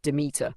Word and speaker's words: Demeter: Demeter, pronounced Demeter, is more than a harvest goddess.